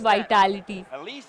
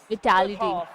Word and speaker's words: Vitality: विटालिटी है chat हम लोग इतने टाइम से गलत pronounce it's नॉट वाइटालिटी विटालिटी भाई नाइटबॉट किससे किसने